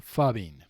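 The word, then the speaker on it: phubbing: Fubby is spelled ph. Okay. U BB I N G.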